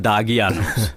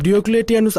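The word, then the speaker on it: Diocletianus: ভেতরে নিয়ে এসো যাও এখনো সঠিক উচ্চারণ করতে পারে না ডিওক্লেটি আনুসকে বলে দাগি আনুস শুভ সকাল আলী জনাব শুভ সকাল জনাব ডিওক্লেটি আনুস আপনাদের সহ শহরের গণ্যমান্য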